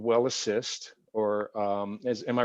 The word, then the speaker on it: WellAssist: So your flagship product is called WellAssist, or am I right? Am I pronouncing that correctly?